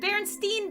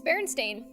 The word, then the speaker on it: Berenstain: I even said it Berenstein bears I always thought it was Baron Steve it's Berenstain it's Berenstain did you know this